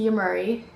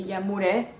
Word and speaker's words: Yamhure: you Marie comes from it's pronounced to you Marie or if you say in Spanish it's a yamuna and it's lebanese next